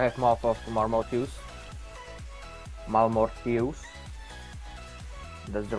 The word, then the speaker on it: Malmortius: guess now i have mouth of marmot use malmortius that's the right pronunciation okay i'm going through magic resist that's